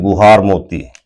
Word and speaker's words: गुहार मोती: देखिए नाम के उच्चारण को लेकर बहुत समस्या है कि कई जगह पे गौर मोता लिखा मिलेगा। कई जगह गुहार मोता लिखा मिलेगा। बट इंग्लिश वर्जन में गुहार मोती लिखा हुआ है।